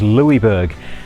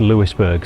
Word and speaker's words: Louisbourg: Now, you will notice in this video we we're referring to it as Louisburg. We've since learned that that was wrong and it should be pronounced Lewisburg, so we're sorry about that.